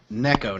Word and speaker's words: Neko: and it is pronounced Neko, It's not it's a Nico. popular. It's a popular thing in anime where they were Mhm. just. Neko, not I can spell Nico.